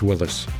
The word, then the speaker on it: Willys: Is it Willys or is it Willis? It's Willis. Yeah.